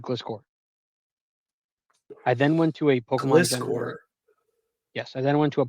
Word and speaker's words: Gliscor: I just say Glysaur, but I don't know. I always say Glysaur like as if the C was silent.